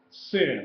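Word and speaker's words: שׂ: If the dot is on the left side at the top, in the left top corner, it's pronounced Sin, like SN, Sin.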